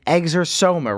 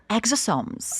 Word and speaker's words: exosomes: And today we're going to talk about stem cells and exosoma, right? Did I say it right? Exosomes. There you go.